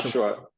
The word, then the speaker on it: Yashua: You know, Yasua. Am I pronouncing your name correctly? Yosua. Like Joshua. Joshua. Exactly. That's correct.